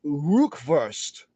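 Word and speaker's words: rückwärts: reverse or backwards means rukwurst almost sounds like something to eat like kielbasa or brock burst but it's spot it's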